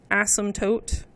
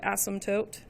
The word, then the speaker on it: asymptote: for you guys awesome the p is silent asymptote that's how you spell that word asymptote so vertical asymptote is